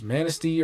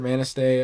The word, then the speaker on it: Manistee: traversity Frankfurt um anus Manistee or Manistee I've heard it pronounced either way um Cadillac and Big